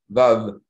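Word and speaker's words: וו: very close to V, so V, Vav. They can't say V either, but V. So in any case, there's some people still say W. Yemenites will pronounce it as W, Yemenite Jews, but in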